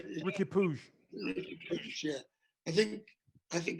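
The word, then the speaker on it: Riqui Puig: How do you say Piggy? Oh, Ricky Puig. Ricky Puig.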